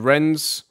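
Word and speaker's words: Rennes: the cup to to Ren's or when I was told not to pronounce the S uh but yeah that's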